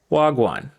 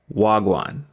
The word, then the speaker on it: wagwan: break and sound like wow so the correct pronunciation is wagwan wagwan another example which is what's happening we have